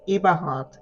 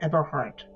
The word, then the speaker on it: Eberhardt: In German, it's pronounced Eberhardt. In English, they say Eberhardt.